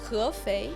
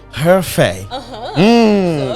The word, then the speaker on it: Hefei: I was having problem in pronouncing it. Hefei. Hefei.